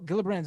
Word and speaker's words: Gillibrand: schumer or gillibrand well gillibrand's not up for re-election for quite some time now wasn't she just reelected recently yes soft g brand gillibrand well i wasn't in